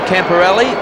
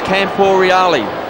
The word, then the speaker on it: Camporeale: That we've been told we shouldn't say Camporelli, his name is Camporeale. That's the right way to pronounce his name.